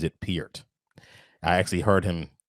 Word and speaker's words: Neil Peart: 70s and 80s oh is that how you pronounce his name i was saying pert is it piert it's peered actually yeah how do you spell that p-e-a-r-t he actually pronounces it piert i actually heard him say it on a